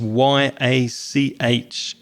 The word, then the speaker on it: yacht: The spelling of yacht is Y-A-C-H-T, but the pronunciation is Y-O-T, yacht.